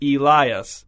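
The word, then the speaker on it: Elys: His name is Elias. E L Y S, but pronounced like Elias.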